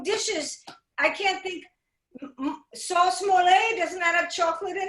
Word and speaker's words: mole: I can't think, sauce mole, doesn't that have chocolate in it? Yes, yes, it has. Did I say it correctly? Mole.